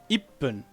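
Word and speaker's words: いっぷん: Ichi is pronounced as I, and this is small 2, which means the next syllable, the next consonant will be heavily emphasized. I. It's like your voice stops halfway.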